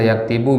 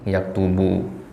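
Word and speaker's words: يَكْتُبُ: Nah, bisa yaktabu, bisa yaktibu, bisa yaktubu, ya kan? Nah, yang benar itu adalah yaktubu.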